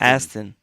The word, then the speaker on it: Aston: on Brendan gran turismo is it pronounced Ashton more ass Aston it is that I know how